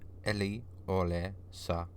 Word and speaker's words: Eliolesa: The princess to be wed was Eliolesa, pronounced Eliolesa. It meant keen flower, an iconic yet fitting name for a newlywed.